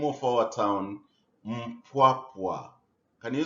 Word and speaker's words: Mpwapwa: You pronounce the name of our town Mpwapwa. Can you say it? Mpwapwa. Correct. Here is a map of our diocese, the Diocese of Mpwapwa.